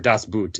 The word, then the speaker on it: Das Boot: And the way that they got that U-boat, because if you ever seen the movie Das Boot, or Das Boot, as it's pronounced, they had the U-boat already built, so they're like, can we use Spielberg was like, can we use it?